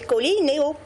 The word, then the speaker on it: Colinéo: Vous l'avez bien prononcé, c'est Colinéo.